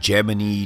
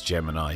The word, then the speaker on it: Gemini: And for everyone that asks, yes, apparently NASA said Gemini despite the fact that everyone else thinks it's Gemini. So I'm just going with a NASA pronunciation for this particular program since it's their particular rocket.